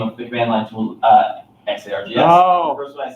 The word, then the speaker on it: xargs: XArgs. One of my favorite command line utilities. XRs. Anything else? You see SARS. You could call it Zargs.